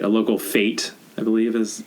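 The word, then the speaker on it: fête: Right, a local fete, I believe, as it's pronounced.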